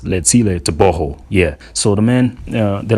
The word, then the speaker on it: Tebogo: Yeah, that GO is pronounced as ho, so it's not TEBOGO, man.